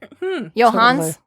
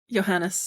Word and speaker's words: Johannes: Johans. Johannes. Johannes. I keep calling him Cabal because I'm afraid to pronounce his first name.